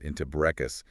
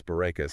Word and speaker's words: Bourekas: people how to pronounce Bourekas. I know. Her comparison to saying "boo" like a ghost, followed by Ray, like they named Renee, and finishing with Coxa, like Cassidy was pure genius.